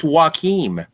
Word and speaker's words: Joachim: just won best female lead at cannes it's pronounced joakim oh it is thelma by joakim trier trier